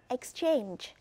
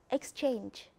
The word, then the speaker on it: exchange: we have the verb exchange pay attention the stress fall on the second syllable for the fourth verb we have the second syllable stress exchange for example i give